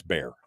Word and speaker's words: Bexar: County and I pronounced it Bexar County but I was corrected in the chat room that it's bare I apologize I didn't